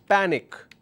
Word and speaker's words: panic: syllable so for example if I have a word which is panic so there have two syllables here back and Nick so when I have a word which has two syllable I am stressing on the first syllable in this particular case panic why am i doing